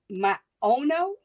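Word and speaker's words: Maono: Is it's pronounced my owno.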